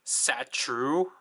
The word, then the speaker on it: Satur: So the way this Saturn is basically supposed to be pronounced is supposed to be like Satru.